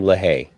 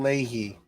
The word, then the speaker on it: Leahy: struggle so uh the delusions of officer jim lahaye leahy that's not how it's spelled it's jim leahy okay don't be a dick about it jim